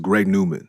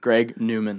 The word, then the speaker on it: GREGNWMN: yeah and it's pronounced greg newman greg newman yeah which is like my actual like that's how you pronounce my like government name like so it's still phonetically like greg newman but it's just like